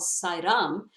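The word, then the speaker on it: Sayram: kazakhstan interestingly it occurred in a place called sairam it's spelt s-a-y-r-a-m and uh it uh is one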